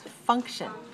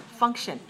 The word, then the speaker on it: function: function number nine is function two syllables and stress the first one function now function can be